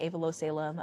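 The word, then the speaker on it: Aivilo Selim: It's my name backwards. Uh I pronounce it Avalo Salem.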